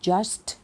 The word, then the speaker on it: just: Just a moment please คำ ว่า Just นะ คะ อย่า ลืม ออก เสียง ข้าง หลัง ด้วย นะ Just a moment please